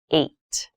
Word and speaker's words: eight: is the number h this has an interesting spelling it's pronounced eight eight is a lucky